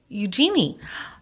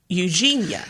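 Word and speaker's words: Eugenie: another another Royal Wedding happening yes um princess Eugene okay it's not Eugene is it and it's pronounced like Eugenia right it is pronounced like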